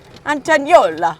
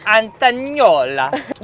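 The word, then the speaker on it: Antognolla: Antagnola. You've got to do it in an Italian accent. Antagnola.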